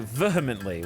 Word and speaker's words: vehemently: that we've discussed already today the way you pronounce vly what what's wrong with it I don't like saying vehemently what is it vehement vehement it's vehement vehemently